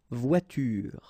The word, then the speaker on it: voiture: It's à la fin d'un mot, at the end of a word, then you shouldn't pronounce this like here, une voiture.